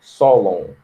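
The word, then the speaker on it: Sólon: O acento agudo é no O, no primeiro O. Solon.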